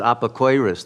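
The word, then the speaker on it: אפיקורס: I know among the Ashkenazi Jews, they pronounce it apokoiros.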